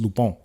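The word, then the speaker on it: Lupin: u p i n but it's pronounced lupon it's a French it's a French show but go watch that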